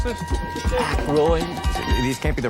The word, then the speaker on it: Aykroyd: Chevy Chase, Kilda Radner, Dan Ike, how the fuck do you pronounce this? Aykroyd.